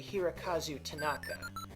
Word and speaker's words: Hirokazu Tanaka: not incorrect, but I think I got the name wrong. I think I said Hirokazu Ando, and it's actually Hirokazu Tanaka.